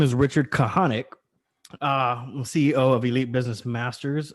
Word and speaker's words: Kahanek: right so um so my name is richard kahanek ceo of elite business masters where we come